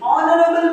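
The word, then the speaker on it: honorable: चलो एग्जांपल देखते हैं, जैसे कि ऑनरेबल पर्सन, देखो H है लेकिन उसका कोई काम नहीं, H है लेकिन उसका क्या है? कोई काम नहीं, वो बहुत ही साइलेंट है, चुपचाप बैठा है, मैं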